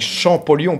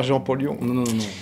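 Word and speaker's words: Champollion: la pierre de recette c'est comme ça qu'on prononce ça avec champolon pas jeampon donc on retrouve dans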